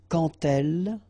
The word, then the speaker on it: quand elle: So like that, quand elle. All right, same rule here. Remember, when you will have this D, you will phonetically pronounce it like T.